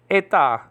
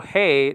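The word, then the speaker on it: ἡ: The article hey nowadays pronounced E in modern Greek.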